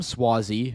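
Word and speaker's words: Suozzi: just going to start here so um Tom swazi and I learned officially that that is the way the correct way to pronounce his last name defeated Mazy pill up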